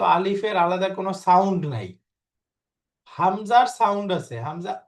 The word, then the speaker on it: همزة: এই যে হামজা কোনো টান নেই এবং প্রত্যেকটা অক্ষরের উচ্চারণ পরিষ্কার।